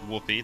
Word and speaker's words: Whoppy: It's uh Whoopi. That's how my name is pronounced if you guys didn't know.